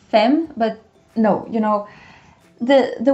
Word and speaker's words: femme: So you spell it with the E, you pronounce it A.